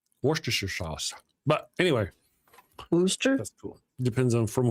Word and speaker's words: Worcester: It's like Worcester. crazy. Yeah. So it's Worcester.